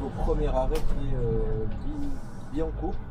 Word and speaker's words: Billancourt: Donc là, on arrive au premier arrêt qui est Billancourt. Si je dis pas de bêtises, ça se prononce comme ça.